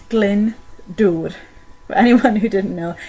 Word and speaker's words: Glyndŵr: So for the twins, it's pronounced Glyndŵr.